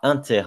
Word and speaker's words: inter: donc P de a inter b Ce cette espèce de N on va le prononcer Inter et donc on va